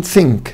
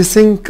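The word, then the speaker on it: think: شكل كلمه مثلا ثينك، ثينك يعني افكر، لو انا قلت سينك قال لي اه لا ده كده تتحول لكلمه تانية خالص معناها يغرق او معناها يغوص.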